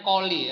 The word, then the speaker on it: coli: Jadi ini bacanya coli ya. Bahkan di tubuh kita sendiri itu sebenarnya sudah ada bakteri E. coli ya. Bacanya pakai K ya, bukan pakai C.